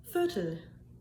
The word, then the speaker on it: Viertel: It was mentioned to me in the previous reactions to my video that that first syllable had to be somewhat softer, if you will. Viertel, viertel, viertel, viertel, viertel.